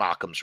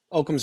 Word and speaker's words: Occam: it's you know you're familiar with the term occam's razor right okam's razor yeah okam's razor thank you sorry i've been mispronouncing it all these years okam's i guess